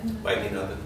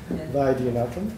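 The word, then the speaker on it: Vaidhyanathan: at the Web Science, Siva, how do you pronounce his last name? Vaidyanathan. Okay. Vaidyanathan, yeah.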